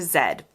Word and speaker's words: zed: In the UK, it's zed, rhyming with bed.